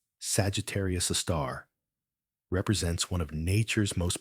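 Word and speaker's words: Sagittarius A*: This magnificent cosmic giant abbreviated as Egar A star and pronounced Sagittarius a star represents one of nature's most profound mysteries.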